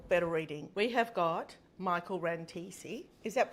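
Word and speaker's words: Michael Rantissi: We have got Michael Rantesi. Is that pronounced correctly?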